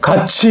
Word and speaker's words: 같이: 같이 우리는 이걸 우리가 같이라고 안 하잖아요. 티읕하고 이가 만났어요. 티읕하고 이가 만났어요. 그럼 치읒으로 발음하라. 그러니까 발음은 같이, 치읒으로 같이 이렇게 발음하잖아요.